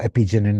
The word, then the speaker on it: apigenin: Apigenin, okay, or epigenin as some people pronounce it, is an important molecule.